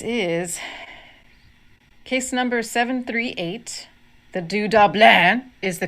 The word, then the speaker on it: Du-dobleahn: the dudlin this is case number 738 the du dublin is the correct pronunciation in its native dialect the name or